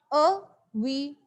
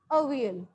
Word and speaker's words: Avial: It was, they have given you the pronunciation, how to pronounce. It's Avial. Avial. Okay, this is the pronunciation, Avial.